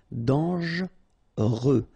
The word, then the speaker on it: dangereux: Okay, so final X not pronounced, and then don't really pronounce this here. Dangereux.